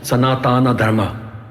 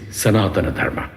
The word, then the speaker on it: Sanatana Dharma: It is not Sanatana Dharma, Mr. So-and-so, it is Sanatana Dharma.